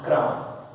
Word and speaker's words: crumb: CRUMB यहाँ पे B silent है, जैसे थंब लिखते हैं, थंब पढ़ते हैं, इस तरह CRUMB में B साइलेंट, क्राम।